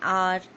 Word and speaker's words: hour: with a h but where h is silent. That means where there is no sound of h is pronounced, like an honor, an hour, an honest man.